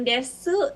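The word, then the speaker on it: です: Kemudian untuk yang desu itu bacanya des.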